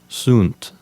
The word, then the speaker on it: sunt: If you're using ecclesiastical pronunciation, you might want to make the U in sunt sound like a long U. You might pronounce it like sunt.